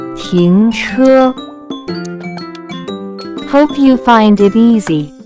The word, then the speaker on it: 停车: Next vocabulary that we have is to stop or park a car, which in Chinese can be pronounced as 停车, 停车, 停车.